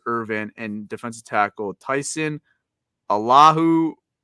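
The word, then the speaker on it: Alualu: also elevated Bruce Irvin and defensive tackle Tyson Allahu. How do you say his name? Oluwalu.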